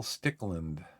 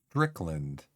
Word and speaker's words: Stickland: Michael Stickland, whose name I pronounced Strickland, like the first half of the season.